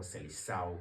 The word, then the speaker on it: Seleção: And this Brazilian team doesn't really look perfect like the Brazilian teams we know, or the proper Seleção team, or Seleção, which the Portuguese will prefer to pronounce, or Seleção.